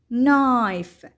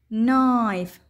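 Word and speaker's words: knife: ثم حرف الان، إذن حرف الك لا يلفظ فقط يكتب وتلفظ ن ن، مثل كلمة نوب نوب وتعني مقبض الباب، نوك نوك وتعني يطرق الباب، ني ني وتعني الركبة، نايف نايف وتعني السكين.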